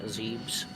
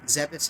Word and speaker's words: Zebes: Well, Zebus is how it's, like, canonically pronounced, because... I mean, I hate saying it, but Other M proved that it's pronounced Zebus.